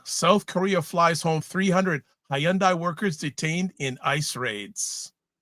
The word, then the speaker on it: Hyundai: She can't even pronounce Hyundai. She keeps saying Hayundai. She keeps saying hiande.